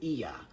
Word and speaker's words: Ea: But they pronounce it Ea.